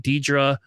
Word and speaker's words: Dedra: I do will tell you that out of seven games, um, my Dedra, see, I said it right.